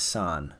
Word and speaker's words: San: My brother's name is San, 1 syllable.